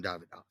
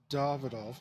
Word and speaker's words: Davidoff: to it it's uh everything I expect from davidov and he pronounced it correctly folks it's pronounced davol not David agree to disagree I know because